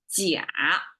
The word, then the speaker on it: 鸭: And then the second version is 甲. This is how it's pronounced. This seed popping thing. It kind of sounds like the vocal of this type of bird animal.